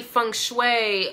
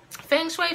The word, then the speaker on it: feng shui: your sage your candles your incense a study Fung Shui um Feng Shui from sweetie I said it right so that